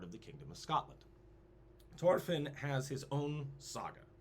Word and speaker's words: Thorfinn: Thorfinn. Thorfinn the Mighty. Thorfinn. They don't pronounce the H, but Thorfinn the Mighty.